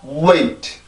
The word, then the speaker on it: wait: 그냥 wait, wait 이게 아니라 wait, wait, wait 앞에 O라고 하는 아주 짧은 소리가 들어가 있어요.